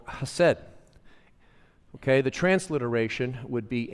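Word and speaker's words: hesed: of weeks ago was a Hebrew word called hassed okay the transliteration would be h e s d h e s e d and it's pronounced just simply hassed and in Hebrew uh the emphasis on syllables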